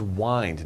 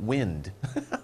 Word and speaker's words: wind: of similar this is wind not wind okay spelled the same but different pronunciation twist means to twist